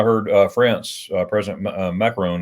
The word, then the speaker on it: Macron: uh france uh president macron i'm saying his name wrong macaroni macaroni macaroni macaroon macron yeah he uh he uh